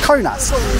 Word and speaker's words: Kaunas: thank you so much is this place called konas or conas conas I've been asking a few people because like the pronunciation is different yeah it depends where they come from ah right and